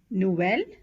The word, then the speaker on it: nouvelle: OU is pronounced as ou, ou, as in nouvelle, boulot.